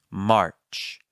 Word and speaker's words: March: March. March. Make sure that the R is present, but not the dominant sound.